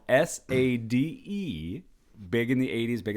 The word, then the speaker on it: Sade: No R, but Sade.